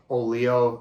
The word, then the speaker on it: Oleo: If you wanted to seek out any of the songs on this, Oleo, it's just like Oreo cookie, only it's spelled O-L-E-O.